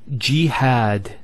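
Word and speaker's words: جهاد: So we have here g, that's the first syllable, and then had, jihad. So you notice here we have a fatha on the ha followed by the alif, and that gives the elongation of the A sound.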